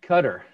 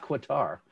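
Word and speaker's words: Qatar: awad is from gutter try to say it right cutter it's not quater good to have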